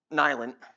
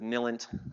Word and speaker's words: NILENT: Now, where we always get in trouble is everyone pronounces it NILENT, like it's silent with an N.